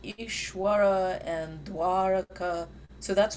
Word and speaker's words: Dwaraka: So we should pronounce va, Dwaraka and Vrindavan and like that. Yeah, so I mean in Bengali that sound is not even pronounced at all. It's like Dwaraka and Ishwara. That is Yeah. va, like Brindabon, and so on. So that's Yeah, either it's not pronounced at all or it's ba.